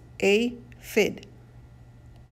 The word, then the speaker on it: aphid: like to eat yummy how do you say aphid like this a fid army ants look at